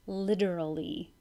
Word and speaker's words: literally: sixteen through and seventeen literally that T sounds like a D literally focus make sure